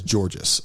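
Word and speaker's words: Tzortzis: um my name is my last name is georgis um it's it's spelled TZ o r TZ i s so I'm 43 now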